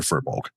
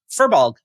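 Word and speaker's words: Firbolg: My favorite part of that story is the whole time Jim called her FEER-bolg. Yeah, that's how I pronounce it. That's how I've always pronounced it. FEER-bolg. Yeah. FEER-bolg.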